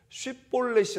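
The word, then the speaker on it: 쉽볼렛: 라는 발음을 해 봐라 그런데 에브라임 사람들이 그 쉽 발음을 못하는 거예요 그래서 10 볼넷이 다 라고 발음을 하고 그래서 이 슛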